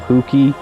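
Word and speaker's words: Hewkii: various heroic deeds, but the pronunciations remain the same. For example, Huki, spelled H-U-K-I, was changed to H-E-W-K-I-I.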